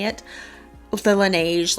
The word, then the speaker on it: Laneige: lip balm i tend to just use the lineage lineage i never know how to say it with the laneige like lip glowy balm i tend to just